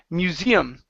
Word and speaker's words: museum: good that's great okay this word here is present pronounced museum the stresses on the II museum museum mm-hmm good